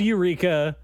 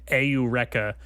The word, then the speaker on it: Eureka: one what was that one uh Eureka 7 pronounced aa aa aurea that can't be I don't think that's right that can't be right that can't possibly be true it's spelled Eureka uh it is spelled Aura and that is